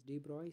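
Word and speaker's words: de Broglie: or you can say d brogly right so this is the name no need to worry about the pronunciation it is D Bry sometimes de hypothesis uh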